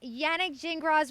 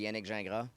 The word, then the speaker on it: Yannick Gingras: Like if you said it like really from French, it'd be Yannick Gingras. That'd be no S. But Yannick Gingras, you know what I mean?